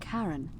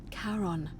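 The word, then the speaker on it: Charon: is a little off the name you heard wasn't Karen it was c h a r o n as in karon the Fairman of the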